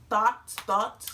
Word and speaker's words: Thot: Ducky Thot. Thought. Oh, okay. That's Thot.